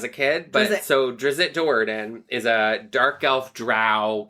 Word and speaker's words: Drizzt Do'Urden: So there's a character from Forgotten Realms called, I always pronounced it Drizzt Do'Urden, but I think people say Dritzt Do'Urden.